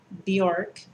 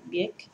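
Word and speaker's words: Björk: And a lot of people pronounce her name Bjork, but I just happen to know that it's Bjork.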